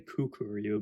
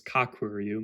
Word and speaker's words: Kakuru: at goru the kakuru I've been saying kukuru but it's kakuru my bad uh then guyu and